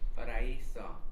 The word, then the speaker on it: Paraiso: Perro Perro Paraiso.